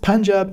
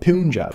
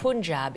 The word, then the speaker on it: Punjab: Sikhism, pronounced like Sikh, not Sikh, started here in Punjab, pronounced Punjab, not Punjab. Punjab.